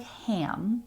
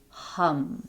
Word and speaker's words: HAM: I will also say it looks like ham but it's not pronounced like ham it's pronounced h hum so if you want